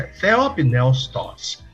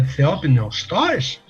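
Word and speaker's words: θεόπνευστος: palavra de Deus é Theopneustos, eu estou dizendo que a palavra é soprada por Theos, que é Deus. Lá vão as sílabas para o pessoal que pede, né? Theopneus, T-O-S. Theopneustos.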